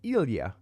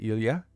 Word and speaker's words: Ilya: says by the way you mispronounced my name a bit on the last review it's more like Ilia Lydia okay it's more like Ilya okay I gotcha Ilya I apologize for that